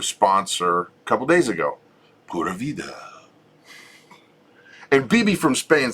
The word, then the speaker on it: Pura Vida: a couple days ago, Pura Vida. And BB from Spain says I'm saying it right. Okay. Pura Vida. She said no, it's Spanish. Yeah. It's ooh. Pura Vida.